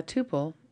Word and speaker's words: tuple: or a tuple apparently how you pronounce it depends on where you're from and what your background is I understand that tupple might be more popular with python programmers and Tuple with mathematicians I don't know I'm going